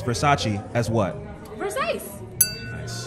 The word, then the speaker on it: Versace: Showgirls, Elizabeth Berkley incorrectly pronounces Versace as what?